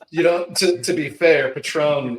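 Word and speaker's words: Patrón: You know, to be fair, Patron is spelled patron, but it has that accent mark that tells you how to say it.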